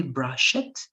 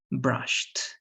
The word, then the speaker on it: brushed: it's with Ed but you don't say brush it it has to be brushed right refreshed exactly brushed exactly